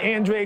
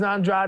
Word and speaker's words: Andrade: this fight you know last fight I said pronounce it Andre because I was going against Deon Nickerson I was like man just say Andre now I think Benavides is Andrade is the way to pronounce this fight we